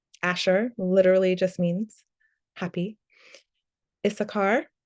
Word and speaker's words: Issachar: Issachar, that's a yes sound, yes, Yissachar is really Yissachar.